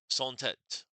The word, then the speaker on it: sans: How do you pronounce this? Sant. Okay, my bad. Rhymes of on without saying the final N sound. Sent.